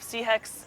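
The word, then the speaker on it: Sihek: It's sea heck, or Sea heck, also okay.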